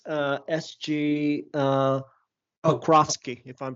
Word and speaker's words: Pokrovsky: It's SG Pokrovsky, if I'm pronouncing that correctly.